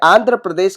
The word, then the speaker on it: आंध्र प्रदेश: और लास्ट में अ का उच्चारण होता है आंध्र, अ आता है बीच में पीछे, आंध्र। ठीक है, प्रदेश पी आर ए प्र, पी आर ए प्र, डी ई डे, एस एच श, प्रदेश। ठीक है, और इसके पीछे जो है अ का उच्चारण नहीं होता है, प्रदेश। ठीक है, श के बाद हम खत्म कर देते हैं, इसलिए आंध्र प्रदेश की स्पेलिंग ये होगी।